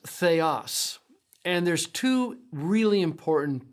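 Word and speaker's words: θεός: It's pronounced theos.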